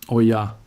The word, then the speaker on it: olla: This is called an olla, pronounced oya.